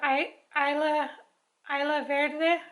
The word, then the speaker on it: Isla Verde: It's called Isla Verde, I think is, because the S is silent.